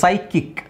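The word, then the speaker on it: psychic: ಸಂತುಲನ ಕಳ್ಕೊಂಡಿರುವರು okay so ಸೈಕಿಕ್ ಹಾಗೆ ಇಲ್ಲಿ ಸೈ kick P ಎಸ್ ವೈ ಪಿ ಎಸ್ ವೈ ಬಂದ್ರೆ ನೀವು ಸೈ ಅಂತಾನೆ ಹೇಳ್ಬೇಕು ಪಿ ಎಸ್ ವೈ ಬಂತಾ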